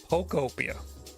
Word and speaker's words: Pokopia: Pokopia. Like Pokemon. Pokopia. Is it the intonation that's fucking you up? Like, are people saying like Pocopia? That's the European.